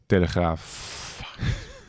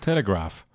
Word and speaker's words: Telegraaf: Wait, is that how you say it? Telegraaf. I thought it said telegraph. Yeah, that's the English version. We like the in this country. Graaf.